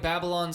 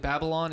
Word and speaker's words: Babylon: Instead of like Babylon spelled like traditionally like Babylon, it's Babylon like BABBLE. Like Babble on.